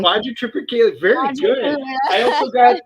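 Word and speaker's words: Quadrotriticale: I can never pronounce it correctly. Quadrum Tripicale.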